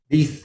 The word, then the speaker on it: Leith: was founded by you and Rosemary, am I pronouncing Leith correctly? Leith, yeah, Leith is good.